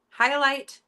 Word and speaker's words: Hyalite: Highlight mini wallet, you guys.